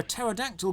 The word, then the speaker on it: pterodactyl: oh interesting dinosaur fact you will never hear a pterodactyl go to the toilet because the p is silent please like and subscribe